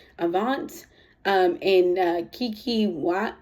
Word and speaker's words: Avant: this world by I don't know how to pronounce his name Avant Avant it's AV v a n t Avant um and uh Kiki wat watt I'm not